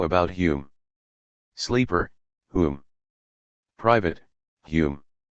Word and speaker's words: Hume: essays David Hume private how about Hume sleeper whom private Hume pronounced Hume of the standard of taste sleeper